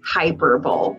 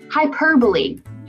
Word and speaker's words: hyperbole: figurative language called hyperbole some people might say hyperbole but that's not how you say it it's hyperbole and hyperbole is an